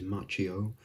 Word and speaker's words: Macchio: the correct pronunciation is machio because that's like more in line with how it's pronounced in italian and it isn't an